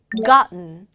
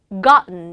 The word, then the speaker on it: gotten: T하고 N 사이에 모음이 나오면요. 은 발음이 난다는 거. 대표적인 거 gotten이 아니라 어떻게 발음했습니까? gotten. gotten 이라 그랬죠.